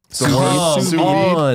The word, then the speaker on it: sous vide: Yeah, sous vide.